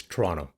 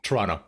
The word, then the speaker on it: Toronto: Firstly, it's Toronto. You don't pronounce the second T. Let's just fix that right now cuz I know you're going to break it up. Toronto. Yeah, Toronto.